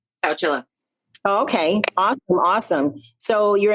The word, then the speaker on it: Chowchilla: Chowchilla? Chowchilla.